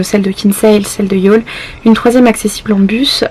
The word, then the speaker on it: Youghal: La plage de Youghal, ça s'écrit Youghal, Y-O-U-G-H-A-L.